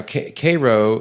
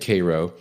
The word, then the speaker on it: Cairo: moved his headquarters to Cairo, Illinois. Now, Cairo is pronounced like the syrup, but it's spelled like the city in Egypt.